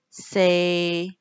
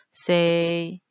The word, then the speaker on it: 四: Okay, so number four means say. Okay, but if you pronounce it wrong, like say, okay, say actually